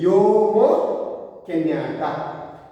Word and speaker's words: Jomo Kenyatta: And this man, Jomo Kenyatta, what is the pronunciation? Jomo Kenyatta.